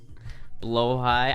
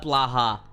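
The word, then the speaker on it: Blåhaj: were stolen by sharks blo High I know it's called blo high that's how it's pronounced I always call it Blaha I always say this Blaha to me man they're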